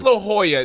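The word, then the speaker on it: La Jolla: I'm like what the it's La Hoya like you didn't arrive on the bus you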